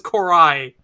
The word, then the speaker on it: Cor'Ai: He says Coral the first time. He says Cor'Ai. Does he? Yeah, he says Coral. He fucking mispronounces it.